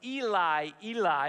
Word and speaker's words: Eli: gospel is important because Eli Eli is the way it's pronounced in Hebrew is the beginning of